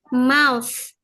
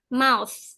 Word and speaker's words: mouth: Mulut bacanya mouse. Sya kayak sa kalau ngaji huruf sa tahu sain enggak. Nah, tapi th-nya dibaca itu mouth. Mouth. Iya, mouse. Jadi, T-nya enggak boleh jelas kayak bahasa Indonesia ya.